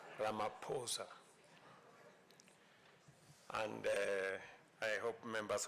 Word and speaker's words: Ramaphosa: He just explained to me that uh the correct pronunciation is not what everybody else has been saying. It is Ramaposa.